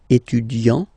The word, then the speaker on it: étudiant: Okay, so it will of course change a little bit the pronunciation, because you will pronounce it at the masculine form. Il est étudiant. Okay, A-N-T, étudiant.